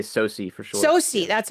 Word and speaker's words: SOCE: SOCE, that's how you say it.